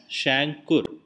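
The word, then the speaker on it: chancre: it is called a shankur okay it is uh spelled as c h a n c r e but pronounced as shankur and this can appear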